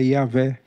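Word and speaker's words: Yahweh: o nome de Deus cuja pronúncia provável é yahvé eh na revista atualiz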